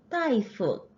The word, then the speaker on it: 大夫: 교체 연습에서 의사라는 표현법 쓸 때 다이프 큰 대자가 원래는 뚜어 따러 할 때 da 따로 발음이 되는데 의사라는 명사로 쓸 때만 따이라고 발음되는 거 같이 체크합니다.